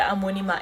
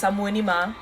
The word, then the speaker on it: Amoanimah: So if you see the Amoanimah, it's Amoanimah. I know lots of you find it so hard to pronounce, but it's Amoanimah.